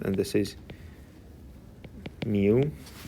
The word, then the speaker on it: mu: is new so new this is how it's pronounced and this is mu how are these two related does anyone know